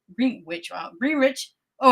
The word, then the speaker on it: Greenwich: So, again, this is happened at Green Witch Green Witch Greenwich.